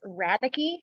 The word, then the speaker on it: Radecke: okay everybody butchers it it's radice like radical but with an e radicky radically radically that that